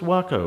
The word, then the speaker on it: Waco: get into this wonderful Waco Waco Phoenix models wakow 60cc it's pronounced wacko apparently we did some research so we saw this